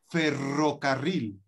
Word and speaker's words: ferrocarril: in your language but in spanish we have for example ferrocarril yeah that is a train yeah we have a strong r yeah we have a